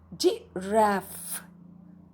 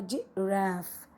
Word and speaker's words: giraffe: Giraffe. Giraffe. Remember, it has a double F and a silent E at the back. So E does not make the sound here. Giraffe.